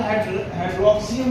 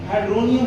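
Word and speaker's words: hydronium: इसके स्पेलिंग लिखे होते हैं HYDROXONIUM, तो उसे आपने हाइड्रोक्सियम नहीं पढ़ना, हाइड्रोनियम आयन पढ़ना है।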